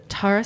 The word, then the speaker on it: Tarah: If you call me Tara, you have to call me Terror. Terror. That's the rule. I'm like, So Miss Tarah is joining us, a local artist, creator.